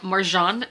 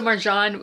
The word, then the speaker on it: Marjan: But once we get into the actual collection, we have Marjan, is how you say her name, according to a YouTube video I watched. So Marjan, we are starting out